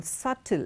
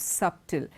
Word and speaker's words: subtle: at the differences on subtle it's not subtle it is subtle satella t subtleness so